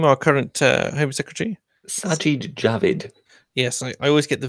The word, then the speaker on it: Sajid Javid: Apparently, how did you pronounce his name, our current Home Secretary? Sajid Javid.